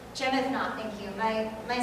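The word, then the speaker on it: Jemaa el-Fnaa: Now this is in Marrakesh, in the main square in the Jamal Fin. Did I say it right, Zubir? Yeah. No. Okay, good. Jemethna.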